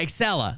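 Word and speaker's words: Acela: hour in the U.S yeah excela that's what it's called I don't think it's spelled like that but that's what it's called it's it's spelled uh like with an a a c e l a or something like that but that is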